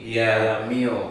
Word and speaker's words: MEOVV: they are called me is it me o v v m o v v me we hope the pronunciation is right kind of seem like meow so um they debuted